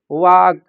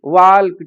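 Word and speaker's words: walk: से वर्ड जो हैं वाक टॉक उड शुड इनमें एल साइलेंट होता है लेकिन वो इनको भी उल्ड सुल्ड वाल्क टालक करके पढ़ते हैं और वह यह स्थिति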